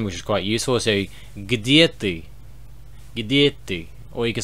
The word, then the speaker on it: где: Next we have где, which is a bit of a weird thing to kind of pronounce. Где, где. A bit weird for English speakers, I guess.